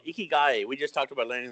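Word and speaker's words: ikigai: you guys a leg word in the Japanese a key guy means your true purpose okay you can google it you can google I'll spell it out i kb i GA i okay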